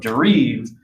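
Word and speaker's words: dérive: Now, before we start, I think it's important to make a phonetic distinction between derive and derive, okay? I've been hearing it pronounced two different ways, and Debord is not trying to talk about the American English word derive, like to draw something from something else. He's talking about derive, which loosely translates to drifting.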